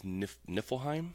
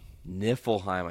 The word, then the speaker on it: Niflheim: Can you pronounce that word? I think it's Niflheim. Niflheim. I think you're right. Niflheim?